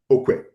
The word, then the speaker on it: Okwe: And the full name of the U-R-U. place where you were born? Okwe. O-K-W-E. So we have hundreds of Uru all over Igbo land.